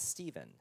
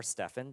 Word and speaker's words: Stephen: one of these guys is stephen or stefan depending how you pronounce it and then um he